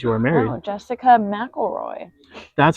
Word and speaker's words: McElroy: Oh, Jessica McElroy.